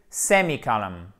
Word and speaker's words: semicolon: Donc le point virgule, semicolon. Semicolon, avec un accent tonique ici et là vous avez une sorte d'accent tonique, ce n'est pas une sorte d'accent tonique, c'est un accent tonique mais secondaire parce que sinon le